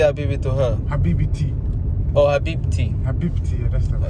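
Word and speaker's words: حبيبتي: And if it's your wife, you say Habibiti. Sorry? If it's your wife, you say Habibiti. You say Habibi to her? Habibiti. Oh, Habibti.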